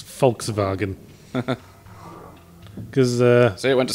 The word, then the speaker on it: Volkswagen: the way they pronounce Volkswagen. Because See, it went to sleep. Germans pronounce their W's as V's. They're notorious for it. But did you know they also pronounce their V's as F's?